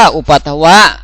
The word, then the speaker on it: อุปัทวะ: เลข ใน นะ ครับ อุปัทว อ่าน ว่า อุปัทวะ โกจิ อะไร อะไร อัตถิ มี